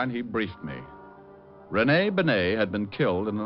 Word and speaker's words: Bennet: dead a guy named Benet auto accident Renee Benet yeah I guess that's the way you pronounce it you see Otis your Mallet head you were wrong it's pronounced Ben not Benny that idiot was calling